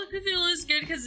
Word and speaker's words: Cthulhu: And then there's me being like, oh, you're saying it wrong. Cthulhu? You're supposed to choke it out because it's supposed to be Cthulhu. It's supposed to be like Cthulhu.